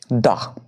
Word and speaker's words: the: বোঝালে তার আগে বসে দা এখানে দা উচ্চারণ কেন করলাম কারণ কি গঙ্গা আছে গঙ্গার ফাস্ট লেটার কনসোনেন্ট আছে কনসোনেন্ট থাকলে তখন দা উচ্চারণ হবে দা তাহলে যেকোনো নদীর নাম